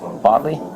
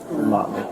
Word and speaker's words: Motley: Motley. Botley? Mott. Motley.